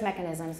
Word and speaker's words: mechanisms: types don't stress mechanisms and when you do stress mechanisms make sure the stress is on the first syllable mechanisms and we're also going